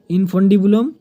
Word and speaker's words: infundibulum: Next point देखंतु फालोपियन tube have 3 part इनफंडिबुलम INFUNDIBULUM ठीक अछि जदि दिसु नै मु आपन को प्रोनाउंस कर दोछि इनफंडिबुलम अम्पुला एंड इंस्थामर ठीक अछि एटी एच पर आपन यू लिखिबे ऊपर मु एटा कर देछि।